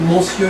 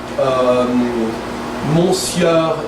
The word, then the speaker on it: monsieur: It's not monsieur, it's monsieur. So it's an E actually.